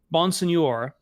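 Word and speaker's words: Bonsignore: Bonsignor.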